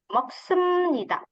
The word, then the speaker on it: 먹습니다: 자, 그리고 여러분 di sini 비읍니다 dibacanya menjadi M ya. Jadi bukan 먹습니다, 일합니다, 작습니다, 큽니다 아니에요. 먹습니다. jadi miem ya.